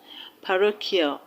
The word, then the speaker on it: parochial: So the way you will stress parochial is not the way you will stress beneficial.